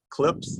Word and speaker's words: CLPS: It's like CLIPS, that's how they pronounce it.